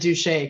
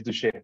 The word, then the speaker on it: Duché: when I pronounced your name, my French kicked in and I said Duché. Can you correct me on how your last name is pronounced? Yeah, my last name is Duché.